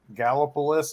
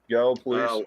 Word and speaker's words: Gallipolis: Gallipolis, Ohio, or Gallipolis, depending on.